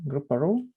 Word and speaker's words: Grouparoo: brian leonard from um group parole is it the right pronunciation group yes okay great kangaroo but yeah yes yesterday